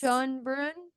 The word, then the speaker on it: Schoenbrun: Jane Schoenbrun would be Schoenbrun. my guess. Schoenbrun. Schoenbrun. I was thinking that it ended with with burn, so I've been saying it wrong in my head for weeks.